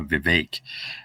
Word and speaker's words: Vivek: do you pronounce riveting I heard him say the other day that you know it's a fake like cake um but the way I'm telling everyone to remember it it's uh just remember it as a it's for vague like fake that's my tip for